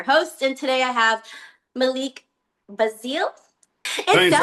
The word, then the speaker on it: Malik: Malik, but even though it's spelled like Malik, it's Malik."